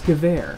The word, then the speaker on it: Gewehr: So it's Gewehr, which makes sense, because the Germans, you know, they use the W sound in German, makes a V sound, you know.